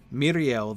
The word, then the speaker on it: Miriel: And Miriel, you've got the accent on the first syllable, right, to tell you to stress that one.